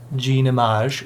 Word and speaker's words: Jean Image: by jean image studio that's how you say it gene image image spelled like the word image but yeah gene image